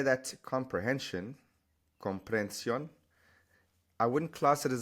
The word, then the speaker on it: comprensión: an exception purely because these H's in Spanish are always silent. Right? So there's no need to add it in here because you're not going to pronounce it. It's just one long air sound.